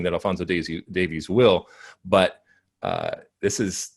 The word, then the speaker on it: Davies: pronounce alfonso davies okay it's not davis it's davies all right uh all